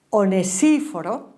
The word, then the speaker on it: Onesíforo: me cuesta mucho pronunciar, Onesíforo, así está bien dicho, que según los indicios ya había fallecido.